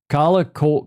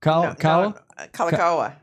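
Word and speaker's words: Kalākaua: How do you pronounce that? Kala Kawa Kawa Kalakawa.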